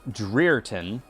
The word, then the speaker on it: Dreerton: If anyone's interested, it is pronounced Dreerton, but most people just call me because I'm a dirty boy.